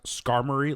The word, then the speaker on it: Skarmory: i don't care it's scar mori okay it's just super dope if pokemon were real i would never i would have i found out last night that it's pronounced skarmory like an armory i think that makes